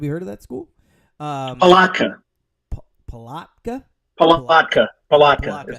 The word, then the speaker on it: Palatka: Palatka.